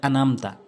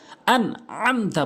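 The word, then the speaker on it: أنعمت: জবর না, সিরাতাল্লাযীনা আনআমতা, এখানে অনেকেই ভুল করে বলে আনামতা, আনামতা, আনআমতা বলতে হবে, আলাইহিম, আইনের উচ্চারণ করতে হবে, অনেকেই ভুল বলে আলাইহিম।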